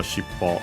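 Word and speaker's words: 尻尾: Shippo is, by the way, accented on the last mora.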